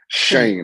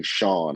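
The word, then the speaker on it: Schoen: I always mispronounce it. Shane. I always say Shaun.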